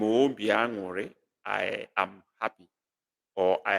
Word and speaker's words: obi aṅụrị: Obi aṅụrị, that's the way it's pronounced.